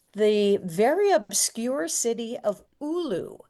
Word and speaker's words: Oulu: We also picked in Finland, the very obscure city of Oulu, it's spelled Oulu, which is about 60 miles south